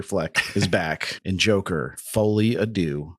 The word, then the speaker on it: Folie à Deux: is back in Joker fly ad do fly ad do I believe is how it's more accurately pronounced that works for me